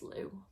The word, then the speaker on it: Lugh: Apparently it has a slightly different pronunciation in like older Irish Gaelic, but in modern Irish it's pronounced Lugh.